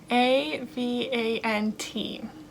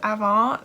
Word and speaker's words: Avant: going to pronounce it we're going to pronounce it like in french so this is avon skin care this is